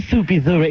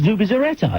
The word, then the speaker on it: Zubizarreta: It's not Zubizarreta, it's Zubizarreta.